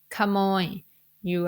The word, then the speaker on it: ขนม: one is the word camo you are not going to pronounce it in a rising tone even though Kai is